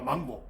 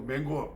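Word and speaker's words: mango: 망고가 안 열린다고 해봐 망고 망고가 아니고 맹고 맹고 이거 말레이시아를 갔는데 사던 때을 방문했는데 아 그음 사더니 그러시더라고요 아 뭐 제가 아 만보네 했더 막 어 너 맹고 맹고 그러더라고요 맹고랍니다 맹고 원래 발음은 맹고 맹고 망고가 아니거 망고가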